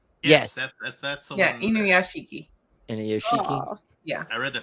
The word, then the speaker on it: Inuyashiki: Inashuki? Oh. I can never say it right. Yeah, there you go. Yeah, I thought it was Inuyashiki.